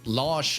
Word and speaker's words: Lars: we ha we have his son from sweden los alexander with correct pronunciation there uh lars is that's a character